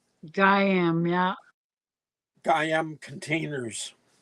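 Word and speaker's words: Gaiam: but the a in a before the I is silent so it's Guam Guam yeah gam containers it's I was wondering how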